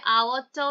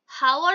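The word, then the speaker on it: hour: Same ভাবে আওয়ারটাও তাই, আওয়ার বলি আমরা, হাওয়ার বলি না কিন্তু আওয়ার বলি। তাহলে এখানে এইচটা সাইলেন্ট আসছে আর আমরা উচ্চারণ করছি আওয়ার, আ উচ্চারণ করছি, তাই জন্য এখানে অ্যান আসছে।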